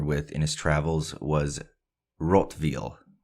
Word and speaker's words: Rottweil: he grew familiar with in his travels was rotv it's spelled r o TT we i l and